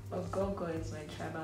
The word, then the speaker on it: Ogogo: It's spelled O-G-H-O-G-H-O. But my mom claims that the G is silent, like you don't pronounce the G. You just literally are pronouncing just O's, like oh. Like you want to vomit or something.